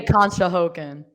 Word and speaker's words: Conshohocken: Oh, no, but we say Conshohocken. It's okay. The first time I saw that word, I thought it was cocksockin. So, but it's Conshohocken.